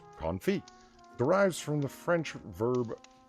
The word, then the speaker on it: confit: wrong Merry Christmas the word is on feet pronounced confit derives from the French verb on fear which